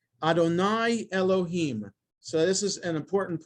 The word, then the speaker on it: Elohim: Yud He, Vav He, instead of pronouncing the word, both words Adonai, Adonai, the second, the Yud He, Vav He, is always pronounced Elohim.